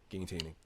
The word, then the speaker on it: gaintaining: Gaintaining.